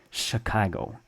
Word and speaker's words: Chicago: it sounds sounds like the English sh with a soft start like in Chicago okay nobody says Chicago Chicago like in normal English words with ch you know Chit Chat chick Chicago why well because the city was founded and named by French speakers and let's look at